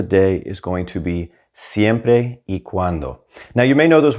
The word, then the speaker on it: siempre y cuando: phrase of the day is going to be siempre e cuando now you may know those words already separately